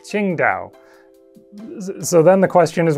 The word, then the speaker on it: Qingdao: and the city it was named after is pronounced something like Qingdao.